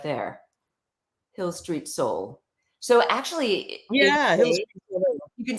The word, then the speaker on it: Hil St. Soul: social media yes oh she's asking if it's Hill Street no it's uh h-i-l-s-t-s-o-u-l so the street is abbreviated yes that's a nice